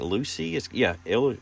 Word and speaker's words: Luci: And this is called, I think, Luci.